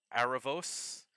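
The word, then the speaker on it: Erebus: Uh, Arabus is apparently pronounced like Arabos because, you know, ancient Greece.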